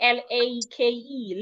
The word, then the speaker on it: lake: An average person would say lick. There's a lake in my village.